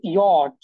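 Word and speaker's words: Jot: আচ্ছা, তাহলে দেখেন নেক্সট এখানে আরেকটা হচ্ছে ইয়ট।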